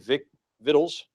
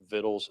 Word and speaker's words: victuals: Solomon had 12 officers over all Israel, which provided victuals. You know that word, actually, you can actually pronounce that both ways. Victuals and victuals.